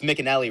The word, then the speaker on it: McAnally: Him and it's McAnally, right? That's how you pronounce his name. Yes, he's very talented.